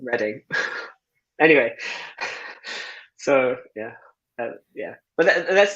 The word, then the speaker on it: Reading: In Reading. Reading. It's spelled Reading though, apologies. Which is a funny story. It's actually someone when the town was meant to spell Reading, so Redding, and the sign writer misspelt it, and that's why it's called Reading.